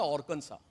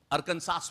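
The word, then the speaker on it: Arkansas: मैं बहुत वर्ष पहले 1998 की बात है, अमेरिका में एक प्रांत है ऑर्कनसा, जिसको हम अरकनसास बोलते हैं, ARKNSAS, ऑर्कनसा उसका प्रोनाउंसिएशन है।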